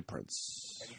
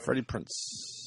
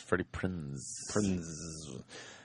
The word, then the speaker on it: Freddie Prinze: I used to say Prince. No. Freddie Prinze. No, it's Freddie Prinze.